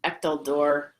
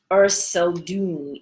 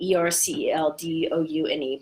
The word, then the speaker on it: Erceldoune: So the first is Thomas the Rhymer, or Thomas of Echteldorn. I always pronounce his name wrong. He was born in 1210, and he was a bard. Here we go. Thomas of Erceldoune, Erceldoune, but commonly known as Thomas the Rhymer.